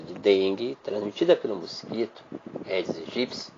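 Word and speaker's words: Aedes aegypti: dengue transmitida pelo mosquito eds egipci que é a pronúncia correta eds egipci o morador de Campinas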